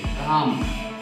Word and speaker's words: calm: Okay, क, A के लिए काना, और एल के लिए एल साइलेंट रहेगा और म लिखेंगे काम, काम, काम यानी शाम।